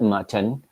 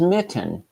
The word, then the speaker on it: Mitten: The last name is not Mutton. It is Mitten.